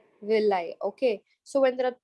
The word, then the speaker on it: villi: is called as the Villi how do you pronounce it will lie okay so when there